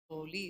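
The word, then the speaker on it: חֳלִי: Holy is how it's pronounced. KH, holy.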